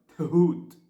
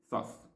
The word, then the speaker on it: Thoth: to write it, but it has the sound ha, which doesn't exist in English. So they substitute for ha with h, ha. So it should be read like Thut, but no one is going to say Thut, so they say Thoth, as it's written, Thoth.